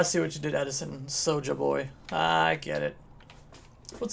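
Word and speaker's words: Pso'Xja: I say So-Ja. Seconds on invis. Like Pojax? I don't know if the P is silent or the S is silent, but Pso, it could be Pso and Xja. And I don't know what's silent there.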